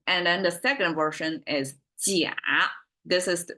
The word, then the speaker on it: 鸭: And then the second version is 甲. This is how it's pronounced. This seed popping thing. It kind of sounds like the vocal of this type of bird animal.